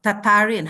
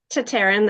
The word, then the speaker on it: Tataryn: to introduce you and welcome uh tatarin how how is that correct how to pronounce tatarin that's you got it right yes welcome